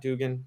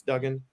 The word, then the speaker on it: Duggan: Bryce Young and Max, is it Duggan is how you pronounce his name, right? Not Dugan, it's Duggan.